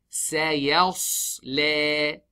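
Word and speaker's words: سَيَصْلَىٰ: So the sad sakin, a thick letter is sandwiched between two things, ya and lam. You smile on the ya, you smile on the lam, you don't smile on the sad.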